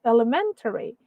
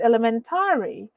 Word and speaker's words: elementary: pronunciation right okay um example the word elementary the stress is supposed to be on the men right elementary but if you mentioned elementary well that's already considered as mispronounced words right okay though For